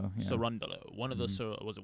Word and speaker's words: Cerundolo: Cerundolo. Cerundolo.